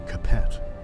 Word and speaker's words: Capet: Think in France it's probably pronounced Cape with some interruptions until the 19th century.